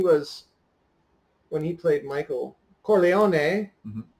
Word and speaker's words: Corleone: when he played Michael Corleone a people like to say Corleone's there's an e at the end you have to pronounce the e to started the program